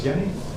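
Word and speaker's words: Jenny: Hans Yenni. Yenni is with a J. J E N Y. But in German it's pronounced like Y.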